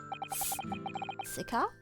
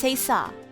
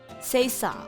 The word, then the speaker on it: c'est ça: Oh, it's pronounced Sesa. Sesa. Okay. Okay, okay. So the C is pronounced like an S. That's fine. Okay. Sesa.